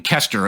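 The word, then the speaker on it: Koester: do it with Megan Kester, if I'm pronouncing her name right. I think it's Keister. Well, I know it's Keister.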